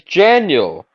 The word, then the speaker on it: Janiel: My name's Janiel. You know January? Daniel? Janiel.